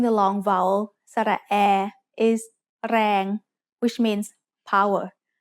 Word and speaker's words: แรง: A word using the long vowel สระแอ is แรง which means power. แรง has a low-class consonant and a live ending, so it is pronounced mid-tone.